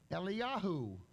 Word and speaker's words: Eliyahu: valve on the end eliyahu is how it's pronounced but there are five